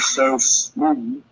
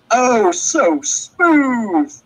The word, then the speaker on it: Oh So Smooth: So Smooth. I'm still saying it wrong, am I? Oh, and the O part in the beginning. Oh, so smooth, Mr.